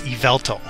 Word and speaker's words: Yveltal: flying one that represents the Y version is Yveltal. I think I'm pronouncing that right, Yveltal.